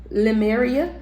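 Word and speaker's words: Lemuria: It's it's spelled L E M U R I A. Limriia.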